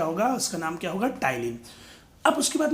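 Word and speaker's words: ptyalin: कई लोग इसको पटाइलिन बोलते हैं, जैसे स्यूडोपोडिया को पसिडोपोडिया बोलते हैं। तो याद रखें ये गलत प्रोनाउंस है, आपको याद रखना है कि यहाँ पे पटाइलिन ना होकर क्या होगा, टाइलिन होएगा।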